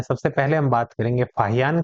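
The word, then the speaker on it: Faxian: लिखा गया है दोस्तों इसकी स्पेलिंग यदि हम लिखे तो वो बनती है एफ ए एक्स आई ए एन अब इसे आप क्या पढ़ेंगे य आपकी मर्जी फसन पढ़े चाहे फाहियान पढ़े यह आप पर डिपेंड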